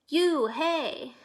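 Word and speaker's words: Unhei: hatecraft that it's spelled you and hei it's pronounced only oh it's you hey the boy said like you hey what about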